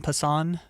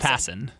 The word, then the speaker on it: Passan: Is it It's Jeff Passen. Oh, is it Pass? Yeah. Oh my god. I've said Jeff's name wrong to his face. Good thing we didn't have him on the show yet. Well, you love him. He's your guy. I've said his name wrong to his face before. It's like French.